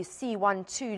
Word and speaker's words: C.1.2: Prof, firstly, do we pronounce it C.12? Is that the correct way to say it? Yeah, that's correct. Good morning, Annika. Yeah, C.1.2.